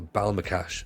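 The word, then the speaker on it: Ballymacash: they don't pronounce it they don't pronounce the Y so balma cash balbal makash oh good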